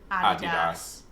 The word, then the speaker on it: Adidas: Like, we should make just one 5-second video how to pronounce Adidas. And it's just us going, Adidas.